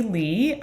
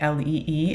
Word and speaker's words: Lee: So please call me Lee. This is how it's pronounced, like Lee, and I use she, her pronouns.